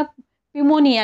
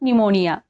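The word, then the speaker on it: pneumonia: का नाही सायकॉलॉजी आता इथे बघा पिमोनिया नाही म्हणत निमोनिया तसंच इथे बघा सायकॅट्रिस्ट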